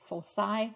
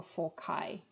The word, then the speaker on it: foci: the curve converge and the plural of the focus point is foci or foci both ways are okay to pronounce so if you were